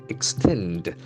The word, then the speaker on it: extend: is applicable here also the action falls to the second syllable extend extend extend you add to something